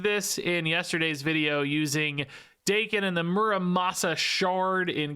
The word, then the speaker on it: Daken: Then you play your buddy Daken, and yes, I pronounce it Daken because that is how Ben Brode said it.